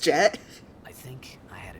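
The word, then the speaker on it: Jecht: I might be saying it slightly wrong, but I'm pretty sure it's pronounced Jet.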